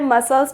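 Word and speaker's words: muscle: आप सभी ने पढ़े मसल्स बोलते हैं सभी मसल आसे तो नहीं पढ़ते मस्कल क्या बोलते हैं इसे मसल बोलते हैं बट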